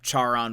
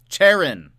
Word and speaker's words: Charon: Charon. There we go. Well, now we know, everyone. Charon. We know now. It sounds like Karen in America. Yeah, that's true. Charon.